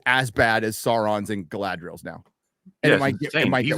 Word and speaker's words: Galadriel: Please correctly pronounce these words. Galadriel.